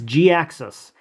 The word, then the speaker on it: Jhiaxus: Hi guys, Brian here, and today I want to give you my quick impressions of Transformers Generations Jhiaxus. That's how you pronounce it because it was when this character